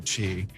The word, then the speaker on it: ki: Life force energy is ki or chi. I went with the K for ki because that's the Japanese pronunciation of it.